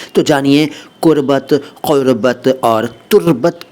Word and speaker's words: क़ुर्बत: उच्चारण अगर नहीं आता हो तो सीख लीजिए। क़ुर्बत क़ुर्बत क़ुर्बत, पहले मैंने कुर्बत बोला, अब क़ुर्बत बोल रहा हूँ। कुर्बत अलग है, क़ुर्बत अलग है।